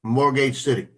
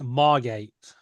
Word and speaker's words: Margate: It's Margate, as in Marmite, Margate.